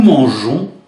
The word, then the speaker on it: mangeons: Pour des raisons de prononciation puisqu'ils ne sont pas suivis par un e mais par un o. Il faudra laisser un e derrière le gans des verbes tels que manger. Je mange, tu manges, il mange. Nous mangeons, vous mangez, il mange. Le E est présent derrière le G pour des raisons de prononciation.